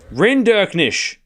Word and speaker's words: Rinderknech: Renderknish. I was this close. Renderknish. I just wasn't pronouncing the K. Renderknish. Renderish. Renderknish. I was just missing the K. I thought it was silent. like a knife.